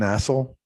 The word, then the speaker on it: Assel: Assel. We pronounce it as stale. My wife says like a stale piece of bread, if that helps.